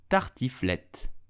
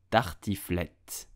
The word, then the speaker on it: tartiflette: So how do you pronounce it correctly in French? You would say tartiflette, tartiflette, tartiflette, tartiflette.